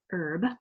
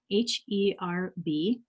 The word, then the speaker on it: herb: called herb h-e-r-b and hey how do you pronounce that you know in Australia I know British herb like this is what I love about this it's like we're talking about herb herb you know in the US is a man's name